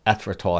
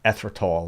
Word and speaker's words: erythritol: But you know what the interesting erythritol, that's how you pronounce it, erythritol.